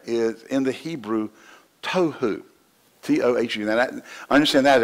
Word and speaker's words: tohu: Now, the word, I believe, void there is in the Hebrew, tohu, T-O-H-U.